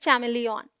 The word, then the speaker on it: chameleon: MEL is the stressed syllable and it sounds exactly like meal.